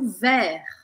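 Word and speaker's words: vert: primeira delas é o ver ver tem que ficar feliz para pronunciar essa ver que é verde a gente não fala o t Então você vai abrir o e bem aberto ver e falar até a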